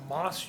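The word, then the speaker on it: MAS: They've been there 18 years or so, and recently it's called a MOS unit, but it's spelled M-A-S. I have to say that. I don't know why they pronounce it MOS, but it's M-A-S unit.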